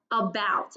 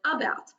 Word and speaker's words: about: got it about and it has that schwa sound at the beginning because instead of saying a belt or a belt we kind of make it a lazy sound and it kind of just sounds like the shore you so it says about okay so what we're